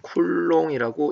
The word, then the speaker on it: 쿨롱: 쓴다 이렇게 됐죠 대가호 안에 쓰면 단위라고 했습니다 쿨롱이라고 읽어요 도체와 부대 했는데 사실 요거는 이제 앞에서